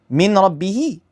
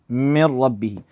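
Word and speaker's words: من ربه: Min rabbihi. Min rabbihi, merge into one single mushaddad is the same as the second, which is lam. Basically, just mir rabbihi.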